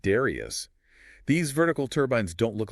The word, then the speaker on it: Darrieus: and the Darrieus, pronounced Darrieus.